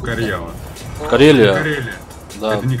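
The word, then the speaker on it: Karjala: Это читается как Карьяла.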